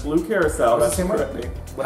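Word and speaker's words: blue curaçao: And then when I first started the show, I said blue carasso or blue, but it's blue curacao.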